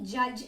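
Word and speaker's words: judge: Okay, so these were the words wait, half, नी, जज and honest. Wait में G silent, half में L, नी में K, जज में D एंड ऑनेस्ट में H इज साइलेंट.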